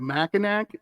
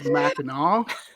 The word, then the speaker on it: Mackinac: thank you so much I said Mackinac and I'm a mush mouth it is Mackinaw Island Megan that's right she's a